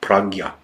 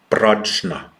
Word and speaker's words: prajna: And it's a very, very important teaching, which, by the way, in Buddhism, they use the term prajna, which is written prajna. It's correctly pronounced prajna.